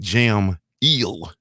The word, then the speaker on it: Jameel: Hey, Jules, this brother, his name is Jamal, but it's spelled Jameel. You feel me? As in jam eel. Jameel. Now, you're an educated brother. I'm trying to figure out if that's Jamal or Jamil.